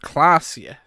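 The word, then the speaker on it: Klaasje: And that's pronounced Klasje.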